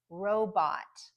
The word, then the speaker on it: robot: clear vowel sound so an example is robot robot so you can hear the stronger syllable is the first one row robot you hear that very clear short o at the end right robot now to compare it